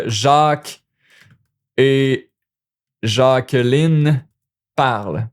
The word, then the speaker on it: parlent: Even if it's like Jacques et Jacqueline parle. Now you see, oh, it's two person, it's plural, parle, don't pronounce the NT.